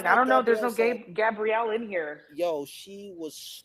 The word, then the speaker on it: Gabriel: Say Gabrielle. I don't know the name. She said Gabrielle. She kept saying it. Gabrielle. He's like it's it's Gabriel.